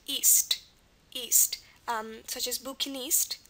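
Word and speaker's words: -iste: and this is pronounced east east um such as bukinist like a seller of books bukinist um i s t is pronounced East at the ends of French words and again means one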